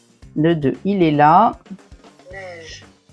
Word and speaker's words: neige: Neige. Neige. Attention, il s'écrit E i.